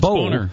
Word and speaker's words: Boehner: Denham of California, who Boehner recently met with on the issue. I think it's pronounced Boehner. Is it? There's no A in that. Yeah, it's B-O-E. No, you're that's right. Boehner. That's Boehner. Yeah.